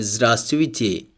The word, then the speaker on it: Здравствуйте: Next, do not pronounce V in Здравствуйте, L in Солнце, and V in Чувства. Here in Здравствуйте we do not pronounce the first V, and in Солнце we do not pronounce the letter L.